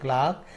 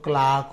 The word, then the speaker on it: clerk: तो द क्लार्क had typed all the letters हो जाएगा। क्लार्क had typed all the letters. And CLERK इसका British pronunciation तो क्लार्क होता है, एंड अमेरिकन प्रोनाउंसिएशन इसका क्लर्क होता है।